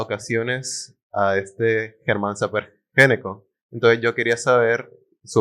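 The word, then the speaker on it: Gnecco: Importante pregunta porque Germán Samper Ñeco, se pronuncia Géneco, Ñeco, fue uno de los arquitectos más importantes que ha habido en la historia de Colombia.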